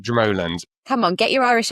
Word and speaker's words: Dromoland: We might say Dromoland, but the Irish pronounce it Dromoland.